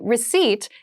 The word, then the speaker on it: receipt: a very interesting spelling there is a p in the spelling of this word but we do not pronounce it the pronunciation is receipt a receipt is a small piece